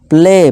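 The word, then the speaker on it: play: ठीक है दोस्तों, जैसे कि देखिए डे, नॉट डाई, प्ले, प्लाई नहीं प्ले, इसी तरह मे, नॉट मई, मई नहीं पढ़ेंगे इसे, मे पढ़ेंगे।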